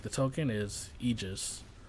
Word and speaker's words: Aegis: A lot of people pronounce it Aegis, but the real pronunciation for, like, the token is Aegis. Like imagine, like, E, and then Jizz. Like, Aegis.